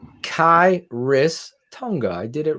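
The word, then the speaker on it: Khyiris: yeah k-h-y-i-r-i-s six two three twenty five Shane pronounce kairis Tonga I did it right look at that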